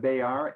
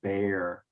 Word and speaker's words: bear: And then Emily, it's instead of bear, it is bear.